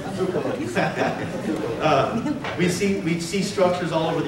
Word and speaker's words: Tsoukalos: And obviously, through the work of Eric von Daniken and Giorgio Tsoukalos, I always say your name wrong, it's Tsoukalos. Actually, it's a Miller. Okay. No, it's Tsoukalos.